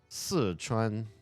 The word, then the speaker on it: Sichuan: The word is si. It means for. Si. Sichuan. Sichuan. It's not anywhere near Szechuan. Ever.